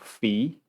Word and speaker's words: Phi: we give the symbol Phi or fee because it's probably properly pronounced so Phi the gravitational